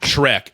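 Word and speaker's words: Schreck: Shrek. Now it's spelled s c h r e e. So it's not spelled exactly like the ogre, but it would be a dream for the Blue Jays social media team.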